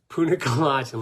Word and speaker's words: punicalagin: very special and rarely known phytochemical known as Punic colagen I know it's hard to say punicalagin let me see if I can spell it for you uh p u n i